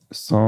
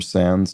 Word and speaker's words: sans: guessing Okay lacking oh saw or Sans depending on how sort of anglii you're pronouncing it but without in French